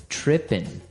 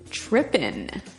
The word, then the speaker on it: tripping: So, they started talking about girls and he mentioned that this girl started tripping. Tripping. Tripping. So, to trip, right? As you notice, it's tripping. It doesn't have the G at the end, which isn't really grammatically correct, but that's kind of the way it's pronounced.